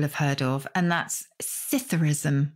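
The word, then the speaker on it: psithurism: heard of and that's scytherism with the silent p scytherism as in swimming pool how do you spell this word p-s-i-t-h-u-r-i-s-m and it is simply like saucerus which has definitely been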